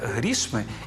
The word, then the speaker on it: грішми: розкидайтеся грішми чи грошима А ось у формі орудного відмінка обидва варіанти правильні не розкидайтеся грішми і не розкидайтеся грошима